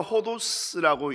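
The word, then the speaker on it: ὁδός: 이 헬라어 호도스라고 읽는데요, 이것은 뭐 길 혹은 여행이라는 두 가지 단어를 사용합니다.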